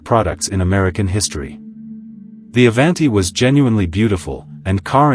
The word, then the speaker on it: Avanti: The Avanti, pronounced Avanti, Italian for forward, was unlike anything the company had ever built.